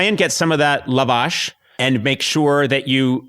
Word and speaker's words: Lavash: But, if I'm to say it right Lavash. You know, like two words. Two words.